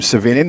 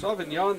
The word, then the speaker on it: Savignon: Was calling him Savignon because that's how it's spelled, but not how it's pronounced. Sauvignon this season, 4-0 in 13 appearances, 6 starts.